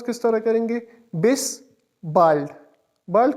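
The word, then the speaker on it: Bis bald: इसका स्पेलिंग है बी आई एस बी ए एल डी इसको प्रोनाउंस किस तरह करेंगे? बिस बाइल्ड बाइड का मतलब है सून मतलब जल्दी ही और बिस सी यू के लिए यूज़ होता है।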